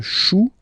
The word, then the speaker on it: chou: Then, un chou, okay, remember, when you combine this C and H, you get the sound sh. Chou, un chou, pluriel, des choux.